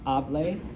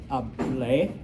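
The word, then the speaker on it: hablé: It's not hable, it's hable, okay?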